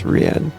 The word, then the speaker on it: Riad: Riad spent most of his time Riad, I always say it wrong. Riad, right? It's Riad.